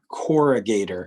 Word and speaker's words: corrugator: the right side so these muscles are pronounced corrugator and they're spelled c-o-r-r these are the corrugator muscles and they do